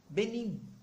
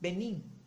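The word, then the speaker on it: benim: em turku vamos lá quando assinava termina com o m de maria você precisa fechar suavemente os seus lábios na hora de pronunciar então vamos pegar a palavra meu minha em turku benin mais uma vez o benin benin vocês perceberam que eu fechei os lábios então não é necessário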